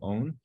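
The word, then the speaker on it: -one: just like the Ketone has the term o-n-e so Ketone has ends with own your names for Ketone should also end with own so proper known of course it's spelled as o n e as in one but we call it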